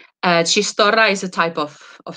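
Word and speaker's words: txistorra: then here you have chistor so chistor this is like a ch sound uh chistora is a type of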